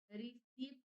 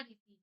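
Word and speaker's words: receipt: नहीं भैया, रिसीप्ट तो लिखा जाता है लेकिन पढ़ा रिसीट जाता है, तो रिसीप्ट होता है, ये स्पेलिंग होती है, रसीद को कहते हैं।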